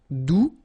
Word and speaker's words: doux: All right, doux, you don't pronounce the final X, douce, feminine form, doucement, adverb.